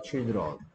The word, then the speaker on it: children: 여기에 아이는 무슨 소리 나는데? child입니까? child죠. 그러니까 여기 I는 I 소리 나죠. 발음 기호로 쓰면 I 소리 나고 있죠. 근데 여기에 I는 무슨 소리 난다? E 소리 난다. children.